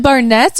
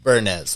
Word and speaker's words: Burnett's: Is it Barnett's or Burnett's? Burnett's, like B-U-R-N-E-T-T. I've been saying it wrong this entire time.